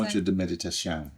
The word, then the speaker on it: Ponto de Meditação: Ponto de Meditação, yeah.